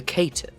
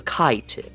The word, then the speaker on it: Caitiff: I speak of the clanless, those who have no home to go to, the Caitiff, or the Caitiff if you pronounce it the way it is written, which is incorrect.